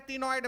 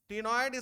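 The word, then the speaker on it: ctenoid: T silent है टीनोइड में, टीनोइड scales.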